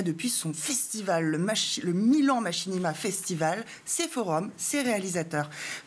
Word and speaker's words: machinima: vidéo et proche de celui du cinéma, les machinima, c'est comme ça que ça se prononce, oui.